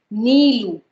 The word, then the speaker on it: Neelu: For example, this letter, this name, Neelu. Okay, some people write it as Neelu, and some people just write Nilu, and still they are pronounced the same.